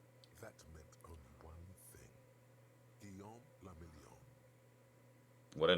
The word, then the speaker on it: Guillaume la Million: Guillaume la Million. What a name. If it doesn't rhyme, you're not pronouncing it right.